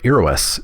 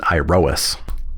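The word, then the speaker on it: Iroas: that you know ass is a Greek word for hero spelled iro a s so I actually think that my pronunciation of arrow s is closer than iOS anyways favored by the red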